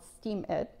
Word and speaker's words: Steemit: tell you about today is a website called Steam It. My friend from Norway told me about it. And it's spelled Steemit.